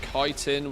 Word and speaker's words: chitin: Pronunciation of chitin with a hard K, as in kite, stems from Greek origin.